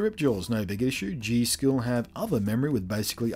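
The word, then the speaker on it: G.Skill: had initially selected the G do Ram or G skill I suppose it's generally pronounced specifically the rip Jaws it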